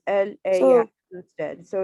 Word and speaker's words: ella: Ella.